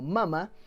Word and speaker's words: Mama: Pronunciada en inglés como Mama, es una cinta que